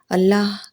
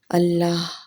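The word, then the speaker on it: الله: منفرد موسیقیت رکھتا ہے، کیونکہ اس کے تمام حروف حلق سے ادا ہوتے ہیں، نہ کہ ہونٹوں سے۔ یہ الہی نام ہونٹوں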